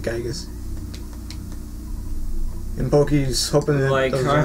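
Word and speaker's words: Giygas: or the localization rather, his name was changed to Gygus, or some people like to pronounce it Gigas. But I think the last time I heard is everyone who was working on the localization was calling it Gygus.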